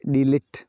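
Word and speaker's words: delete: जैसे डिलीट, तो ये साइलेंट है।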